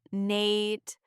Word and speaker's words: night: Night. I didn't even try to say the K or the GH. I said, Nate.